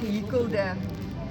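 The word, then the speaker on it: gehekel: Hier is ook gehikkelde scrubbies vir jou gesig om jou gesig mee te was.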